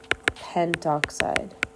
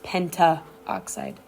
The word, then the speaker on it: pentoxide: and two o five we would call this die nitrogen pentoxide not Penta oxide okay it's not the